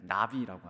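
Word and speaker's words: נביא: 그 다음에 느비임은 선지자들을 히브리어로 이렇게 날아다니는 나비가 아니라 발음이 나비입니다. 나비. 예언자, 선지자를 나비라고 합니다.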